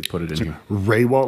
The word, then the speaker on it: Rehwoldt: Raywalt, like RAY-WALL-T. That's probably the best way.